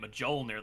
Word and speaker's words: Mjolnir: I found out the J is silent. I've been saying it Mjolnir the whole time. It's not silent, it's not like a Y.